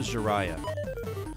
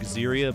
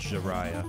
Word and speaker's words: Ziria: enemy encounters dude right this is tingi Mako jarah I know it looks like ziria but it's pronounced jarah like jariah from Naruto I mean hell we